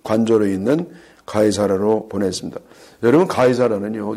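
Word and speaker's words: 가이사랴: 여러분 가이사라는요 이게 유럽식 발음이고요. 원래 영어로서는 시저예요.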